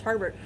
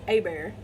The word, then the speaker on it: Hebert: Last name is spelled Hebert, and you'd think that's pronounced Herbert, but it's Hebert.